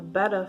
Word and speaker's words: betta: what is called a betta fish or betta fish depending on who you ask it's pronounced two different ways and beta's typically don't